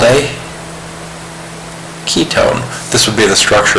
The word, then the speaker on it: ketone: straight in my head because ketone has that K sound in it and on either side of the C double bond o you have a C so think of a hard C sound like the C and cat ketone so if you